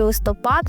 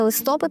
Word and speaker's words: листопад: Тому Чорнозел, Чорнослив, але запам'ятайте листопад. Тільки листопад, не листопад. Такого наголосу взагалі не існує.